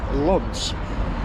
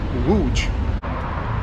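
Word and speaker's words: Łódź: know that like uh for many years i refer to the city as lonz because that's what it looks like in english l-o-d-z it's actually the pronounced wooj i think it means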